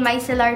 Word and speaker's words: micellar: These are the Garnier Micellar Micellar Cleansing Waters. Micellar, micellar is the same thing. Depende sa kung nasa ang lugar ka sa mundo. Both pronunciations, I think, are correct.